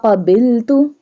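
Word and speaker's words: قبلت: This one qaf will be bold because it has a two dot. Wa qabiltu jami'a.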